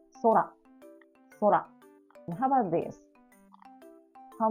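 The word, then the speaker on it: 空: So this is 2 hiragana. So it means 2 beat. Sora, sora.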